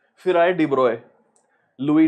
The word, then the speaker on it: de Broglie: फिर आए डिब्रॉय, लुई डिब्रॉय, इनके नाम की प्रोनाउंसिएशन है डिब्रॉय।